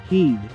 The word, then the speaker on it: Head: before he takes office in the white house luther cuts ties with his own company lexcorp turning over leadership to talia head pronounced heed daughter of international terrorist